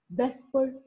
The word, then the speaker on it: VSEPR: Today we will discuss Vesper theory, that is VSEPR theory, valence shell electron pair repulsion theory, and it is commonly known as VSEPR, VSEPR theory, और इसको वेस्पर भी pronounce कहते हैं.